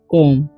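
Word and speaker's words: comb: land ठीक है इसे सी ओ एम बी है यहां पर बी का उचार नहीं होगा इसे पढ़ेंगे हम लोग कोम ठीक है उसी तरीके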